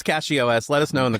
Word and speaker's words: CachyOS: How do you guys pronounce CachyOS? Let us know in the comments. So I never started even playing thought with of it about cache. Yeah, it makes sense. Yeah, I just say catchy.